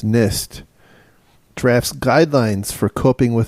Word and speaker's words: NIST: the title is nist It's not an is as I've been told it's nist drafts guidelines for coping